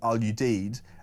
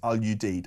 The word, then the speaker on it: Al Udeid: the airbase in Qatar, you pronounce it Al Udeid. I I have spent some time working there in the past. It's very hot but great food. Hope this helps. It is pronounced Al Udeid. I pronounced it incorrectly earlier on.